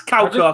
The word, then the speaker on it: Kauko: Or Karko, I don't know how you pronounce it. It's Kauko, okay, I was right.